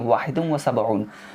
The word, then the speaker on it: واحد وسبعون: ठीक है, इसका प्रोनाउंसिएशन 71 होगा 71 का, लेकिन अरबिक में इसका प्रोनाउंसिएशन देखिए वाहिदुम व सबऊन।